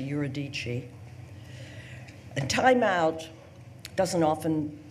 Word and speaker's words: Eurydice: her poem is called Eurydice or as I think it's pronounced in this country yer adichie the time out doesn't